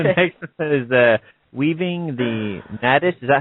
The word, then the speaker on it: nadis: Next one is weaving the nadis. Is that how you pronounce it?